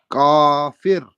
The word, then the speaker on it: kafir: It's kafir. Kafir. Okay, good. Okay. Perfectly. You know that second time, perfectly pronounced.